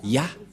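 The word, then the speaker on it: יה: Ça se prononce Yah.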